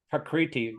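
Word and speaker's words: prakṛti: Prakriti. Well, a Pra- R with a dot under it. You pronounce it Re.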